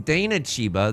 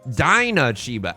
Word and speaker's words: Dana Chiba: Apparently, I've been saying Dana Chiba, the author of Riichi Book 1, this entire time. I think his name is pronounced Dinah Chiba, and this is humiliating.